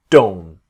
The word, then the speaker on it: don't: about don't so don't the T very often the T is a dome dome not dawn but don't so when we talk